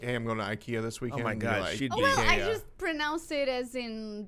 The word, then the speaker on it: IKEA: that were pronouncing incorrectly IKEA is what I say I think what most people say here in the United States of America IKEA apparently that is incorrect and then how do they say it in Portugal yeah II Kia is correct Juiz - ka y